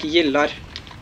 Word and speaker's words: gillar: Oh, the G is pronounced like a J or an I in Swedish. So more like gillar.